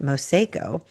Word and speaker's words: Mosao: They've always had a pizza and pasta spot, but now it's called Mosao, like a mosaic, but Mosao.